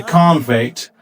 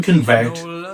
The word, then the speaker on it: convict: A convict, which is a noun, where the stress is on the first syllable, versus to convict, where the stress is on the second syllable.